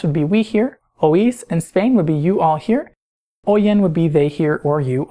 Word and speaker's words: oís: You'll notice in these forms the I has an accent mark to break the diphthong, meaning that it makes that I a syllable by itself, so it's oímos instead of oímos, and oís instead of oís.